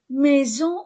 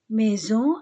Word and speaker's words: maison: Maison ou appartement. Maison, A-I-E, S entre deux voyelles Z, O-N-O.